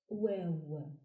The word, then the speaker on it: و: The 27th letter is pronounced Waw and is written from right to left with a ring shape above the line, going down, making a semicircle shape. Waw, like in wall.